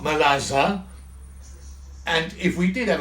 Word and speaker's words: merluza: So, and merluza is hake, it's spelled M-E-R-L-U-Z-A, pronounced merlaza.